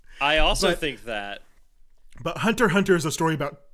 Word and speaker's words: Hunter x Hunter: Well, there is, but you don't pronounce the X. You never pronounce the X. It's just Hunter x Hunter.